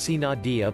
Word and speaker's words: sine die: happened Congress became signed I pronounced see Nadia literally without day and thus when Congress adjourned sine die it ceased to exist